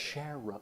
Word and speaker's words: Sharrow: Sharrow system. It's the one that you might see on the ground with like a bike lane. Put the word shared and arrow together. Sharrow.